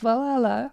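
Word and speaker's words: VA-11 Hall-A: letters itself, the VA11 Hall A, it's actually pronounced Valhalla.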